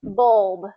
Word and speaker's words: bulb: lot of these rules it's considered a vowel sound o bul bulb so you just emphasize that bulb bold yeah there you